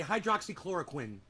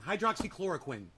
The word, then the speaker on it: hydroxychloroquine: Hydroxychloroquine. I learned how to say it pretty quickly. Chloroquine. You know, think of the guy from Dexter. Quinn. Chlorine. Hydroxychloroquine. It's fucking easy.